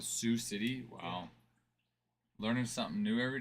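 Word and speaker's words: Sioux City: Sue City. Is that how it's pronounced? Sue. They pronounce that Sue City.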